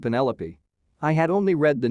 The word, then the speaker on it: Penelope: a top pick but i pronounced it to rhyme with cantaloupe i remember my cousin